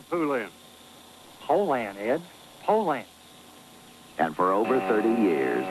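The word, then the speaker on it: Poulan: for over 30 years they've been mispronouncing our date so we'd like to remind you that our name is Poland and for a tough dependable chainsaw Poland is the only name you need to remember no matter how you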